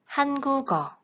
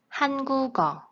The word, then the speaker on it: 한국어: So, this sound moves to the beginning of the next syllable if the syllable starts with a vowel sound. han-gu-geo, han-gu-geo. This is liaison.